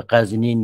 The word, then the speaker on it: غزنین: که چون شه به قزنین در آمد ز بلخ. اینجا معلوم میشه که تلفظش هم همین قزنین درسته به اقتضای بحث.